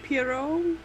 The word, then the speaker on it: Poirot: Hercule Poirot? Interrogating Catwoman. Hercule sorry. Poirot? I believe it's pronounced Hercule Poirot.